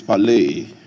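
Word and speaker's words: πάλη: The pronunciation of that word is palei.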